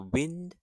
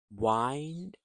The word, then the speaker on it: wind: So, the wind rhymes with the word tin, which means air movement. Please wind up the toy before you play it. Wind rhymes with find means to twist or coil something like the road winds through the mountains.